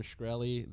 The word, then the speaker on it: Shkreli: Shkreli?